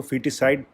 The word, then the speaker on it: foeticide: इसको feticide pronunciate किया जाता है.